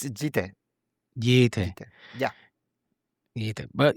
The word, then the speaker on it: Yite: Yite, thank you so much for coming on. Yite, right? Yite, how you pronounce it in English? Yeah, it's Yite.